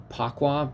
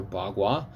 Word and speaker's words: Bagua: And so, like, instead of Pakwa, P-A-K-U-A, and then you just have to know that P's are pronounced B's and K's are pronounced as G's, which there's several of those in the Wade-Giles system.